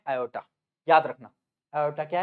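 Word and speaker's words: aorta: तरफ लेके जाता है इसको हम बोलते हैं आयोटा। क्या बोलते हैं हम इसको? आयोटा। या फिर बहुत सारे लोग इसको ऑर्टा भी बोलते हैं। इसकी स्पेलिंग होती है ये ए ओ आर टी ए ऑर्टा।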